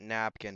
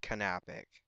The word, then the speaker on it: Kapic: you seen right here I always called it napkin because I didn't know how to pronounce it but it's actually pronounced kapic and his middle name